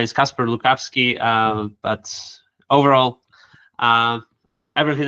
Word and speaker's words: Kacper Lukawski: My name is Casper Lukovski.